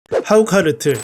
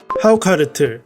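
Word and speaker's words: hákarl: 하우카르틀, 하, 하우카르틀, 하우카르, 하칼 등 여러 발음으로 불리고이 뜻은 아이슬란드어로 상어를 의미합니다.이는 중세 초기 북유럽에서 사용된 고대 노르드어에서 상어를 뜻하는 명사 한카르에서 유래됐다고 합니다.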